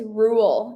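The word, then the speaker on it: Ruel: Okay, his name is Rule, and he's from I think Australia. It's like how do you spell that?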